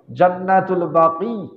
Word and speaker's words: জান্নাতুল বাকি: ফাইজা হুয়াল বাকি, এই জান্নাতুল বাকি কবর স্থানের একটা নাম বাকি, বাকিয়ন যেটা শেষে আইন আছে বাকিয়ন উচ্চারণ হয় জান্নাতুল বাকি, যে লক্ষ লক্ষ এরকম